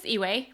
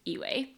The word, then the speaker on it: Yiwei: My name is Yiwei, pronounced like eBay, but it's Yiwei.